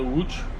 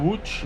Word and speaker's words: Łódź: In Poland, there's a Łódź film school. How do you say the it? Łódź.